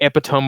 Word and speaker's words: epitome: today are probably more common than like the epitome of what a cowboy was in the 1890s.